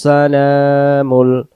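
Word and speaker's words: السلام: যাবে আল মালিকুল কুদ্দুস সালাম সালাম এখানে লামের অক্ষরটাকে আমরা টান দেব খারা জবর সালাম সালাম আল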